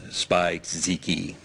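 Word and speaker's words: Spizike: I was looking for the Air Jordan 11 low and a Air Jordan Winterize, it's a weird name, Spike-Ziki. Okay, and could you spell that just for the purpose of our record?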